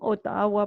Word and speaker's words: Ottawa: I live on Ottawa Place. We pronounce that Ottawa.